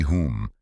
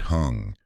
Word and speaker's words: Hum: It is Om Mani Padme Hum, not Peme, and certainly not Hung.